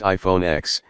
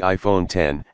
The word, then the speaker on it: iPhone X: since the original iPhone it's not pronounced iPhone X it's the iPhone 10 and the screen takes